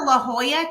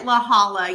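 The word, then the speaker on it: La Jolla: We went to La Hoya, California, which it is spelled L A J O L A, but Christy kept calling it Laala, y'all.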